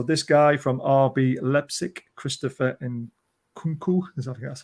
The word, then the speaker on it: Christopher Nkunku: So this guy from RB Leipzig, Christopher Nkunku, that's how you pronounce his name.